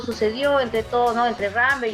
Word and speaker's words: Rambert: Rambert, así se pronuncia, Richard.